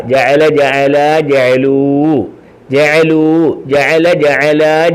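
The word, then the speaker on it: جعلوا: ജഅലൂ. ആണോ? ജഅലൂ ജഅലൂ. ജീമ് ജ, ഐന് അ, ലാമ് ലു ലൂ. അലിഫ് ഉണ്ടെങ്കിലും ലൂന്ന് വായിക്കും. കണ്ടോ? അലിഫ് ഉണ്ടെങ്കിലും ഇല്ലെങ്കിലും ലൂന്ന് വായിക്കും. ബഹുവചനത്തിന് ശേഷം ഒരു അലിഫിനെ എഴുതും, ആ അലിഫിന് ഉച്ചാരണമില്ല. ജഅല ജഅല ജഅലൂ, ജഅലൂ ജഅല ജഅല ജഅലൂ.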